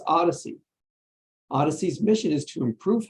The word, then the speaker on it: OHDSI: sciences and informatics Community ohdsi which we pronounce as Odyssey odyssey's mission is to